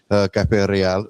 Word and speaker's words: Cafe Real: I know uh when I first got told about Cafe Royal, and I'll say it like that cuz that's just how I say it, Cafe Rial.